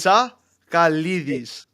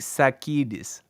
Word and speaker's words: Tsakalidis: Say it properly. Jake Tsakalidis. Jake Sakidis. No, say Tsa Kalidis. Kalidis. Yeah. Tsa Jake Tsakalidis.